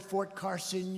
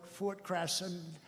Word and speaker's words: Fort Carson: You don't like to mispronounce a word, like you come to a great place like this, and instead of calling it Fort Carson, you call it Fort Crasson.